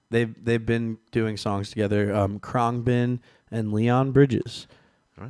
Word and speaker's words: Khruangbin: So the next band is called Khruangbin. Khruangbin.